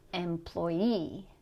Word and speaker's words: employee: The stress is going to be on the suffix. So in these words, you're going to put stress on the last syllable. Employee, matinee, nominee.